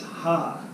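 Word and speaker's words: ห้า: but the letter v in Thai language is ha ha so it's knowing song sip see ha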